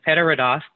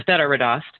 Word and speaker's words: Þetta reddast: It's an Icelandic symbol, and it actually is pronounced TH, but it's Þetta reddast or Þetta reddast.